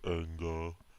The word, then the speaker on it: Anja: It is pronounced Anga, just like my name is Angajuk.